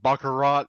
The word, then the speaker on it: baccarat: Where they're playing baccarat. Is that how you pronounce it?